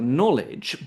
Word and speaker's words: knowledge: Likewise, the K is silent in known and in words like knowledge, but again, it's pronounced differently.